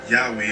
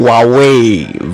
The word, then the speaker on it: Huawei: Yahweh, or however you pronounce it. Huawei, bro. Get it right.